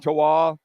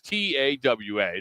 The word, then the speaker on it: Tawa: Isn't it Tewa, like Wawa, Tawawa? Tawa. But they isn't it Tawawa? I thought it was Tawa. T-A-W-A, Tawa. Yeah, Tewa, Tawa. Wawa is W-A-W-A. Yeah. That's T-A-W-A.